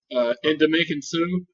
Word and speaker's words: Ndamukong Suh: cat right here, for the Lions, how you pronounce his name? Ndamukong Suh.